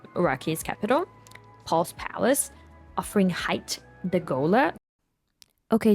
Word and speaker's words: Hayt: They plan to infiltrate Arrakina, Araki's capital, Paul's palace, offering Hayt the Gola. Okay, so it's actually pronounced hate, I think.